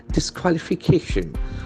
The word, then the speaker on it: disqualification: There are 6 syllables basically. We can check the pronunciation of that word. Disqualification. The cation, that sound will get the accent. The prominence will be on that sound.